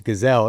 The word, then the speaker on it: Gesell: And then the last name obviously always brings up, it's Gesell. It's not spelled that way, but everybody always has a discussion of how to pronounce both my names, and it always makes for good conversation, I guess.